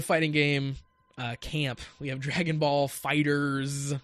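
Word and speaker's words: Dragon Ball FighterZ: we have Dragonball Fighters with the Z I think is how they they want that pronounced I thought it was Dragon Ball Fighter Z for a long time but I think it's literally Dragon Ball fighters but that game looks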